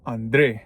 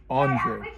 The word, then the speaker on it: André: I would always put the accent on the E to pronounce my name André. But everyone in school would call me Andre, and the teachers would call me Andre. And my name in English is pronounced Andre.